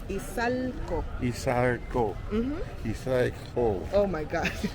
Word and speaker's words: Izalco: Izalco. Izalco. Izalco. Oh my God. My pronunciation.